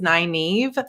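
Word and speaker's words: Nynaeve: oh i saw somebody asked how do you pronounce her name so her name is naive elizabeth and her name comes from the wheel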